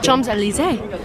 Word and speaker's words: Champs-Élysées: Champs-Élysées.